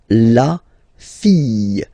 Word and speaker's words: fille: And then the feminine form, the daughter, la fille. Yeah. Okay, so this L here and E will give you the sound Y. La fille. La fille.